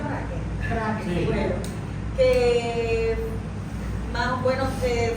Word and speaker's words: Braque: ¿Se pronuncia Braque? Braque, sí.